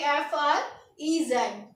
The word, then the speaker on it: fraise: तो स्ट्रॉबेरी अगर हमें बोलना है तो हमें याद करना पड़ेगा, इसको लिखेंगे स्ट्रॉबेरी को, स्पेलिंग बिल्कुल डिफरेंट होगी, FRAISE, और इसकी प्रोनाउंसिएशन होगी FREZ।